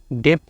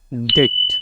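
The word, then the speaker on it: debt: বি এখানে উজ্জ্ব থাকবে মানে বি এর উচ্চারণ হবে না নিচেরটা দেখো বি এর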